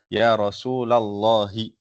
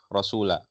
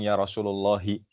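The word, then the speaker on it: رسولَ الله: Jaaulun ilan nabii shallallahu alaihi wasallama faqala ya rasulallahi. Nah ini dibaca baris fathah rasula. Kenapa? Kenapa bukan ya rasulullahi?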